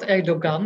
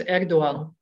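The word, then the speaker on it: Erdoğan: It's not Erdogan, it's Erdogan. The G isn't pronounced.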